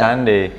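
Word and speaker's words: Sunday: Minggu itu disebut Sundai tulisannya. Sandai. Nah ini bacanya Sandai.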